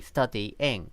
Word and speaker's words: studying: Well, study is 2 syllables, and then ing is 1 syllable, so that makes 3. Studying, studying. Okay, and those syllables, the d and the ing, d-ing, they're connected by a y sound.